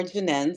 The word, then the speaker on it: Jennen: said is Janine pronounced Janine or janen so it's okay just put that out there